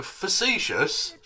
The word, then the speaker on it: facetious: mispronouncing mispronunciations of words so facetious if you pronounce the face if you emphasize face it becomes fascist hyperbole hyperbole it's just